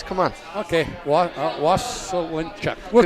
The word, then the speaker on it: Waselenchuk: Waselenchuk. Okay, so... just the way it looks. Come on. Okay, Waselenchuk.